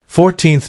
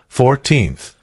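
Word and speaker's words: fourteenth: how old is she 14th notice that we use th four ordinal numbers starting with four but first second and third the stress is on the second syllable 14th compare this with 40th 40th as she's going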